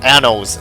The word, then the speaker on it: annals: I really just pronounced it Ano, didn't I? Ugh, annals, not...